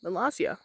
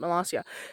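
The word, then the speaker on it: Molossia: Melasia, I think that's how you pronounce it. Melasia.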